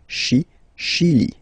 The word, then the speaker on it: Chili: Okay, remember, CH, sh. Okay, Chili.